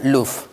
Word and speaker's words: Louvre: Oke, Kiryat ini di bawah grupnya Louvre atau dibacanya Louvre.